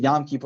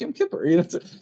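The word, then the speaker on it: Yom Kippur: they have Yam Kipur which they never pronounce right. It's always Yamipur. It's not Yamore. It's Yam Kipper.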